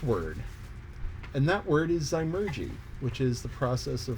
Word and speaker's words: zymurgy: the canonical last word and that word is zymergy which is the process of fermentation fermentation is